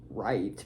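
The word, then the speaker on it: riht: word for right or is right but it's spelled r i HT meant straight or just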